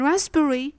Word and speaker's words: raspberry: In raspberry and cupboard, you'll notice the bilabial sounds P, B are following each other. As there is too much maneuver at the level of the lips in producing the two sounds successively, the result is that P files behind from pronunciation and turns into a silent letter.